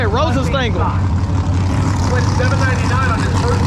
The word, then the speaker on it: Rosenstengel: That's how you say it, Rosenstengel.